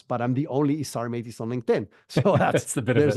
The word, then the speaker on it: Isar Meitis: LinkedIn that's the best place my name is isar mtis it's spelled i s a r m i t i s it's a really mouthful of name that nobody can pronounce but I'm the only isar Mattis on LinkedIn so that's there's a benefit to